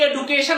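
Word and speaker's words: education: Continue মানে চালিয়ে যাওয়া, এবং কন্টিনিউড অর্থাৎ চালিয়ে গিয়েছিল হার এডুকেশন। হার আমরা বলি এডুকেশন, আসলে উচ্চারণটা হবে এডুকেশন। এডুকেশন অর্থাৎ ডির উচ্চারণ এখানে জের মতো করে হবে, অর্থাৎ এডুকেশন।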